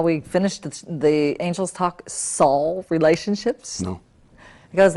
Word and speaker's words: Saul: oh you know i think well like i said because i grew up in a jewish family we had no trouble pronouncing saul like saul of tarsus yeah who became saint paul